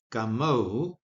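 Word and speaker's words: γαμῶ: However, the verb form, and I'll use the Erasmian pronunciation, gameo, or the contracted form, gamo, is not acceptable in modern Greek.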